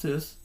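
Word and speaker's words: 'Tis: Tease the damn season or something like that. It's pronounced tis. Tis the season.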